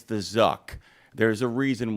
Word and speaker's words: Zuck: It's the Zuck. There's a reason why Zuck rhymes with another word. Truck, because trucks are positive and Zuck is negative.